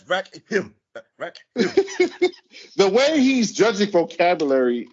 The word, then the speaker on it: Rakim: I mean, that's not Rakim. That's Rakim.